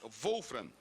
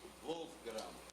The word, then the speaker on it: Wolfgram: E, por último, concedo a palavra ao senhor Wolfram, diretor financeiro do Sindicato dos Oficiais de Justiça do Estado do Espírito Santo. A pronúncia é essa mesmo? Wolfram? Isso, Wolfgram. Wolfram. Alemão.